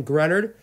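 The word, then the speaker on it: Greenard: Raiders get themselves a stud pick 92 Jonathan grunted edge rush or Florida that is how you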